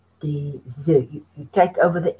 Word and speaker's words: œufs: But when it becomes plural, you don't pronounce the F. You say des œufs. Des œufs. You take over the S of the D. Des œufs.